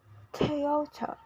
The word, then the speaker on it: Toyota: first syllable next is Toyota in both American and British English with a stress in the second syllable next must must is